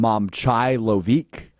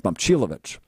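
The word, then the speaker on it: Momčilović: And I already, but I've been watching SportsCenter a lot this weekend, and none of the anchors say his name correctly. I believe Linda Kuhn called him Momcilovic. It's Momcilovic.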